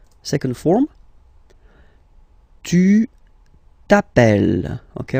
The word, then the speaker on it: t'appelles: All right, second form, tu t'appelles. Okay, remember, final S not pronounced, tu t'appelle.